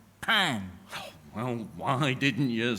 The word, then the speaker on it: pain: Bread, Donnie, is spelled pain. P A I N. But Leslie, it's pronounced pan.